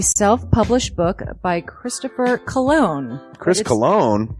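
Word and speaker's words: Christopher Colon: Chris Cologne? Smells good to me. But look at her. That broke that fucking cold little exterior. He's like, hee. But it is spelled COLON.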